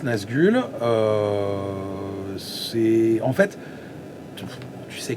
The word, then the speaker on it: NzgL: Mais voilà, en tout cas, oui, ça se prononce Nazgûl.